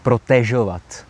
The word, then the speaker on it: protežovat: e s háčkem jo ta výslovnost je protežovat protože to je z francouzského protéze což znamená chránit jo příbuzné slovo je